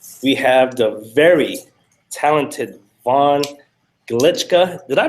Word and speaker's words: Von Glitschka: We have the very talented Vaughn Glitschka. Did I pronounce that right, Vaughn?